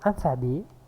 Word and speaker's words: alphabet: Mais pour le suffixe, le mot alphabet, vous pouvez constater les modifications. Alphabet, ici, le T est muet, mais dans le mot alphabétisation, on la prononce alphabétisation.